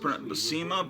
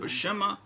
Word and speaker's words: Buscema: interview with john bush i used basima but is it bashema i think it's bashema but to me it's always been john buscema because i didn't know how to pronounce it you see the